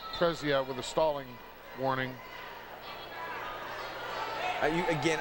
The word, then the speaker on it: Prezzia: Referee hits, how do you pronounce his name? Prezzia. Prezzia with a stalling warning.